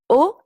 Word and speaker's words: au: unix donc je répète la préposition au se prononce donc au comme la lettre o tout simplement comment sait-on